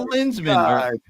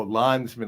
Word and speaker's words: Landsman: I'm not a lensman. Is that how you say it? A lensman? No, Landsman, like Landsman either.